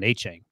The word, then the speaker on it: Achane: But we asked him specifically at the combine, and he said Devon Achane, right?